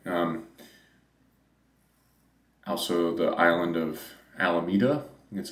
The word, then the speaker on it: Alameda: to be specific um also the island of alameda that's how you say it also to oakland